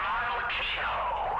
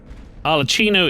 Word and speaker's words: Arlecchino: Coincidentally, Arlecchino is native Italian pronunciation of Harlequin, one of the stock characters from Commedia dell'arte.